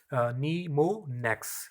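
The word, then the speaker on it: mnemonics: word are known as नीमो next it is pronounced as नी मोनेक्स इसमें है एम जो है यहां पे साइलेंट है अगर यहां पर देखें तो इसके अंदर एम साइलेंट है तो इसका नाम क्या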